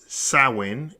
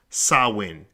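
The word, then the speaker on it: Samhain: GIC word pron pronounced sawin s a h w i n the very word itself is spelled s a m h a i n but it's pronounced sawin is usually celebrated from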